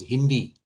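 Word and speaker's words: HindII: enzyme hind2 it is it is written as hind but it's mostly pronounced as hindi hindi 2 cuts at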